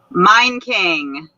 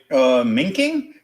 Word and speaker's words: Meinking: Meinking. Okay. Not what you expected? No, I was like, Minking?